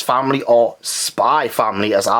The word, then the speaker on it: Spy x Family: but yeah i called spy family because this x is silent like hunter hunter yeah so this is